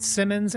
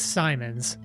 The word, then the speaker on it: Simons: Yeah, so you've been pronouncing it Simmons when it's Simons. Oh, you know what? You're absolutely right. There was one M in his name.